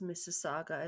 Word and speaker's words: Mississauga: of Mississauga Ontario yes Mississauga is a lot like Mississippi for you American listeners m-i-s-s-i-s-i-s-s-a-u-g-a is how it's